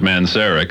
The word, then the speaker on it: Manzarek: No, well, I pronounce it Manzarek.